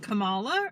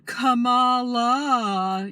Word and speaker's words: Kamala: uh corrected me that I was pronouncing her name wrong I said Camala or something and she was like Cala you know that that's